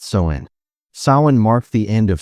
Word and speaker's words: Samhain: They called it Samhain, pronounced Samhain.